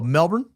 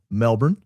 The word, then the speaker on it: Melbourne: As a Melbourneian myself, your pronunciation was great. Where so many get it wrong. Best wishes from down under. Oh, Melbourne? Well, thank you. If all I got to do is say Melbourne, I get 8 Australian bucks.